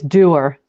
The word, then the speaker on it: Duer: How do you pronounce your second name? It's Duer.